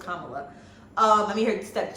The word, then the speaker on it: Kamala: it yes she call herself mamala so it's Kamala um I mean her step children call her